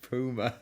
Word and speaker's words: Puma: him speed of the Puma Puma that's how it pronounced it was go check